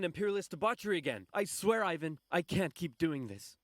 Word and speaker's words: Ivan: I just want to say that Ivan is not a Russian name. Russian name is Ivan. It's not I, it's E, and then the main point is on the second syllable.